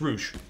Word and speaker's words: rouge: Is it pronounced the way you're saying it, or is it just, it's not rogue, it's not pronounced rogue, it's rouge.